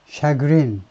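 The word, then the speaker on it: chagrin: of 샤이라 말이 있어요 샤 발음을 보면 불어인 걸 알 수 있죠 예 이시의 를요 시라고 발음하면 이거요 샤그린 하면 전부 다 프랑스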